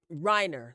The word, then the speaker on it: Reiner: So, um, in case you're wondering what the heck happened, um, Nick Rener is the son of Robert and Michelle. Rob, I'm saying Robert. Rob and Michelle. Uh, Reiner.